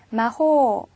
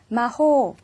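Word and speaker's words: 魔法: 마호, 마법이라는 뜻이에요. 이렇게 단어의 제일 마지막에 장음이 오면 짧게 발음해서 틀리기 쉽다고 했죠. 자, 신경 쓰여서요. 마호, 길게 발음해주세요.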